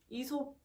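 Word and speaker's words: Aesop: 그래서 한번 아직 바디 로션을 못 구하신 분들은 요 에이솝 제품을, 에이솝? 근데 이거 저는 에이솝이라고 읽는데 친구가 이솝이라고 읽어야 된다고 하더라고요. 그래서 이솝 핸드크림을 추천해 드립니다. 이솝인지 에이솝인지 잘 모르겠어요.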